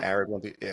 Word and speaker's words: ARID1B: to, do we pronounce it ARID1B? I've heard Yeah. ARID1B.